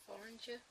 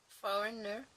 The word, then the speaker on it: foreigner: oops, there was a foreigner, no, foreigner, yeah, I want to say the G in foreigner, so I'm just trying to remember what Donna told me, that the G is silent.